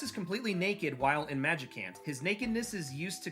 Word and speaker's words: Magicant: Thus, it is pronounced like the word magic combined with the word can't. In Mother 2, Ness is completely naked while in Magicant.